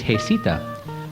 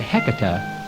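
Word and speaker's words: Heceta: northwest coast in 1775 the correct Spanish pronunciation is hesita but today many claim that heca is the proper way of referring to the lighthouse in 1888 a bill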